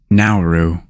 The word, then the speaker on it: Nauru: many more today's country of the day is nauru nauru is a country in Oceana nauru is the least visited country in the world there is no official capital in nauru the main export of nauru is phosphate the